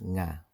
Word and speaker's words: nga: If the preceding word ends in a consonant, then nga is used, pronounced nga.